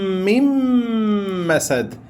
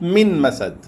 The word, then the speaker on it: من مسد: therefore what happens is you remove the Noon and pronounce it with another Mim.